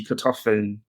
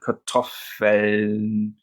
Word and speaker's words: Kartoffeln: It's feminine, and the plural just takes an N, die Kartoffeln. So that N and the L, they get squished together. Kartoffeln. That N is just squished right in the end there.